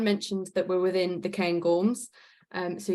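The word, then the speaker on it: Cairngorms: that we're within the cane gorms um so you can see here that also is probably the most English pronunciation of the cane gorms but I am English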